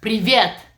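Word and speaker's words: привет: please say hi in Russian that would be previant how do you say that privyet yes right Ricky Rick years and so mean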